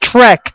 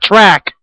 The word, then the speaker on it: Trek: a lot like that it's Trek not track Tre Tre you know